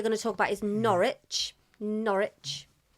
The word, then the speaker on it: Norwich: First because as usual of course uh so the first team we are going to talk about is Norwich.